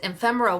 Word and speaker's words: ephemera: So people pay a lot of money for the, I always forget how to pronounce it, ephemera. That's it, ephemera, which has that vintagey look to it.